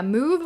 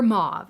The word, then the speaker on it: mauve: But yeah, mauve or mauve. It's pronounced different ways.